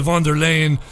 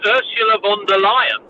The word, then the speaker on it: von der Leyen: Okay, well, first of all, just on the pronunciation, it's Ursula von der Leyen. Von der Leyen, which I suppose is ironic. Von der Leyen. Or von der Lioness, maybe we should call her.